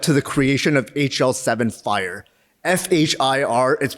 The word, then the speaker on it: FHIR: is what led to the creation of hl7 fire f-h-i-r is pronounced fire fire stands for fast Healthcare interoperability